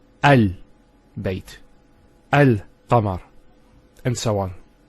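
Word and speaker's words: القمر: Let's first of all start with Al-Qamar. How do we pronounce this? It's Al-Qamar. So Al-Qamar. So there's a sukoon there on top of the lam. And it's Al-Qamar. There's no issues with that.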